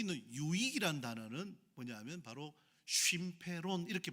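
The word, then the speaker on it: συμφέρον: 여기 있는 유익이란 단어는 뭐냐면 바로 쉼페론 이렇게 발음합니다.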